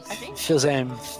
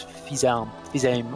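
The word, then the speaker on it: Fils-Aimé: How it looks to me, but it's like French name, definitely a French name, so it's Fils-Aime or something like that.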